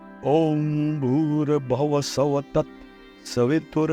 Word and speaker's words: ओम: है ओम बोलने से ओम का है उ अ म ऐसा कुछ बोलना पड़ता है मैं बहुत इसको डीप